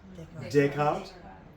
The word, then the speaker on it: Descartes: Does anybody know exactly how that's pronounced? Descartes.